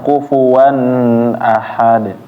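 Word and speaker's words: كُفُوًا أَحَد: Kufuwan jangan ditahan. N-nya ya atau tanwinnya di sini ketemu a, jangan ditahan. Kufuwan ahad.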